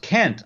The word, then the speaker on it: Kent: you are probably talking about is cont Hovind Kant Hovind oh it's pronounced Kent I said that oh you said karl rove